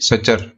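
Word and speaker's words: suture: और ये जो स्यूचर होते हैं इनको ही फिब्रस जॉइंट बोला जाता है, स्यूचर या फिर सचर, इस तरीके से आप इनको प्रोनाउंसिएट कर सकते हो।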